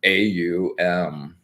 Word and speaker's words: AUM: sounded in this 3-letter AUM. Yeah. And it's pronounced like you're going up to oh, so it's an oo rather than an o.